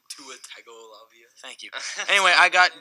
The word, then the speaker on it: Tagovailoa: that's like saying, Tua Tagovailoa What had like just came out of his 3,000 mouth?